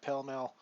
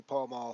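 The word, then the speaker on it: Pall Mall: not an American uh I'm pretty sure it's not pel Mel pretty sure it's supposed to be pal M thanks very much but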